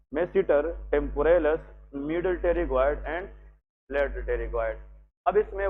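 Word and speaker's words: pterygoid: और नेक्स्ट यहाँ पे लेके मीडियल टेरिगॉइड मसल। मीडियल, इसमें पी साइलेंट है, that is टेरिगॉइड, medial टेरिगॉइड muscle.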